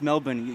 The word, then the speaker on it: Melbourne: joking I'm just like the way you pronounce Melbourne you're doing it right thank you thank you